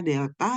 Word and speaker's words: Delta: y karena perubahan l ingat Delta yang segitiga itu bacanya Delta dan artinya perubahan Saya